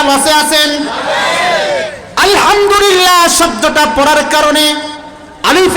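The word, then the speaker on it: الحمد لله: হা টা উচ্চারণ করতে হলে গলায় চাপ দিয়ে উচ্চারণ করতে হবে বলতে হবে আলহামদুলিল্লাহ আল্লাহু আকবার আল্লাহু আকবার বলেন আলহামদুলিল্লাহ আলহামদুলিল্লাহ এই যে আমি আপনাদেরকে আপনারা পড়তেছেন এই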